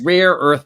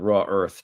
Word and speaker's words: rare earth: anything he's but anyway it's rare earth metals by the way not raw Earth just uh not to be U so punctilious about it but just he he keeps saying it wrong he says it three different ways and all of them are incorrect just to say John